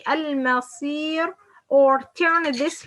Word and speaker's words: المصير: Okay, like المصير. When we pronounce this صاد as a light, المصي, المصي.